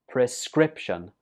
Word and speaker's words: prescription: Prescription. This word has 3 syllables and the stress goes on the 2nd syllable.